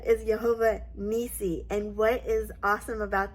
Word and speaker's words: Yehovah Nissi: name of God is yahovah nii Jehovah nii as previously stated in yesterday's video there is no J sound in the Hebrew language